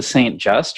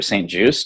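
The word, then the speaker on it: St Just: then the next day we hiked to st. just or st. juice depending on who we talked to they pronounced it differently so that was a bigger town not quite as big as st.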